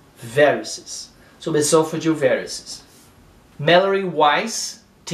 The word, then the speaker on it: varices: O estresse está no I. Aqui é varices.